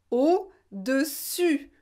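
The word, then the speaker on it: au-dessus: dit la taille aux eaux comme un os au dessus pu eu c'est vraiment c'est la lettre u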